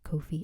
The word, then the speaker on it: Ko-fi: have a coffee page I'll pronounce it right one day like Kofi I hear people say both but it doesn't matter whatever